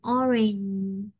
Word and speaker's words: orange: ghi lại là or, r, e, n, ha, orange, orange.